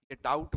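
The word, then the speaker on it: doubt: का बी से है तो यहां बी आप नहीं बोलते हैं डाउट बोलते हैं बी पाम की बात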